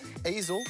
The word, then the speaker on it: easel: as painting on it easel rhymes with weasel and it's an art